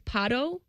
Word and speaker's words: Pato: It's Pato.